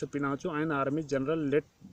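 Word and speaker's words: Augusto Pinochet: General अगस्टो पिनाचो pronounce पिनाचो and army general let द कूप। और general अगस्टो पिनासे, जिनको पिनासे भी कहा जाता है, वह एक आर्मी के जनरल थे, सेना के जनरल थे।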